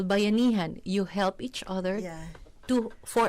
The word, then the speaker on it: Bayanihan: It is said, and I hope I pronounce it right this time. I got it right off the air. Bayanihan.